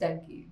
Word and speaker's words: Dunki: भी आ रहा है, इट्स नॉट डंकी इट्स डंकी, तो मैं गलत प्रोनाउंस किया, इट्स लाइक डंकी, तो अभी इसका ड्रॉप